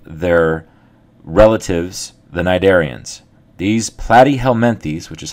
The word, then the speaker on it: Platyhelminthes: advancement truly above their relatives the nidian these platty helenes which is how you pronounce this word here is our next philm